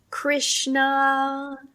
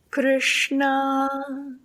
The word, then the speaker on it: Krishna: So if we say Krishna, Krishna, like a typical non-trained person might do, versus Krishna, Krishna.